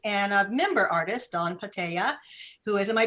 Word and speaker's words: Panttaja: a Portland artist, and a member artist, Dawn Panttaja, who is, am I pronouncing your name correctly? Panttaja. Yeah. Panttaja.